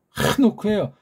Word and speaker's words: 하노크: 하노크예요. 하노크. 잘 발음이 안 되면 부드러운 가에서 하노크. 하노크. 키읔은 아니야. 강한 히읗을 하세요. 하노크. 하노크는 틀렸어요. 하노크예요.